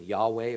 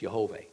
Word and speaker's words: Yahweh: Again, Yahweh, or I believe it's Yehovah.